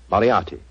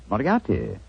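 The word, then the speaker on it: Moriarty: Moriati. Moriati.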